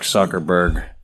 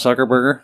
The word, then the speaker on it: Zuckerberg: __ ] but mark zuckerberg um that's not his name oh no it's not soccer burger no that's soccer burst name oh my bad yeah you said it right zuckerberg hawaii yeah he's a